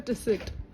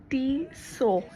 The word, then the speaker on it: Tissot: Is it Tissot or Tissit? It is T-so. Both of you are wrong. It's T-so. The T is silent.